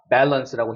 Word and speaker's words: balance: 그래서 우리가 보통 어떤 사람들은 이걸 밸런스라고 읽기도 하고 이제 밸런스라고 읽기도 하는데 여기 강세가 있으니까 balance라고 힘줘서 읽어야 되는 거죠.